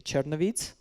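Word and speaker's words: Chernivtsi: it's called in english i think the right way to say it would be chernovites you know there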